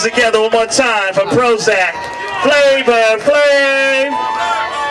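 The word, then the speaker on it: Prohoezak: say money money my name is Prozac that's p r o h o e z a k is spr pro hoac but the ho is silent cuz the power's in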